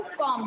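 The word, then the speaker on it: comb: कॉम कहते हैं. कॉम. हाँ. तो ये इसमें आपका बी जो है ये साइलेंट है.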